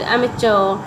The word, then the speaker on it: amateur: He later became a gifted amateur. Both the pronunciations of this word is correct. Amateur or amateur. Amateur is American, amateur is British.